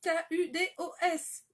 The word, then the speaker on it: Kudos: Le Kudo, ça s'écrit K-U-D-O-S. Kudos, en fait. C'est toujours le même nom, que ce soit en anglais, en français, en taïwanais, enfin peu importe, c'est le même nom.